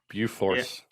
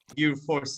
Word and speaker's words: Bjurfors: How do you pronounce it? Bjufors. That's the one. Bjufors. Bjufors is basically in the top three, within the